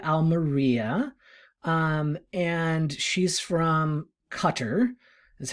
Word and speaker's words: Qatar: this is sophia almeria um and she's from cutter that's how you pronounce it now we used to pronounce it qatar um and she's interesting she is the offspring